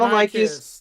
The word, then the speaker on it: Mononychus: Mononychus. That's how it's pronounced.